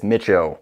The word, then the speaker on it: Micho: Oh yeah, by the way, it's Micho. Thanks for repeating the last name to me. I noticed that you were mispronouncing it.